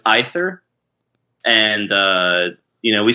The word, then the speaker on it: Aether Realm: uh okay so um in English it's supposed to be ether okay that's what I thought Chris Chris was saying something else in other language as though it's ether and uh you know